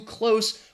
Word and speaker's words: close: In this case, too close, we're talking about an adjective and a verb. So the adjective has that S, close. And the verb, to close something, has that Z sound, all right?